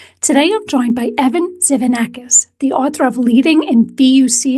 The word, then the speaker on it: Tzivanakis: Patty baronowski Schneider today I'm joined by Evan zanakis the author of leading in Buca Booka times